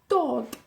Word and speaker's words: dod: Hay dos versiones de dod. Hay dúad y dod. Dúad se usa más en el norte, pero yo, no sé por qué, pero yo digo dod.